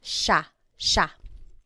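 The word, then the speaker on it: siya: point out the pronunciation it looks like it should be pronounced but it's usually pronounced Sha Sha Sila is theyo is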